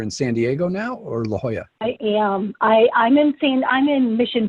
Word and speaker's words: La Jolla: Like, and he's like, "It's La Jolla," and I'm like, "Oh, Well, it's I not don't know spelled how to that way.